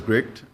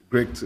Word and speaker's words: GRICD: so it's pronounced as great um great um gricd you can college i said yeah great okay the dc is silent right okay very quickly